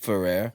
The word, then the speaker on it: Fuhhrare: That's how my name is pronounced. My last name is pronounced in the U.S. So it's just really a riff off It's of that. actually pronounced Fuhhrare.